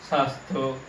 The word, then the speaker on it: স্বাস্থ্য: শব্দের শুরুতে যদি বফলা থাকে তাহলে সেই বফলার উচ্চারণ হয় না। কেমন দেখুন তাহলে, যেমন এখানে রয়েছে কি স্বাদ, স্বাদ, এখানে রয়েছে ত্বক, স্বাস্থ্য, জ্বালা।